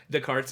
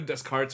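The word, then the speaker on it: Descartes: to say it correctly the carts yeah that's I was like it's either desarts or because I know they don't really like pronounce like the last few letters Sobe it's the I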